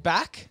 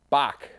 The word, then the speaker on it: Bach: Is it Bach? Bach. Yep. Bach. Ah, like the musician. Like the composer.